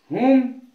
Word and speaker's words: whom: होम WHOM होम उच्चारण आ गया है, और WHOSE हुज का उच्चारण आ रहा है।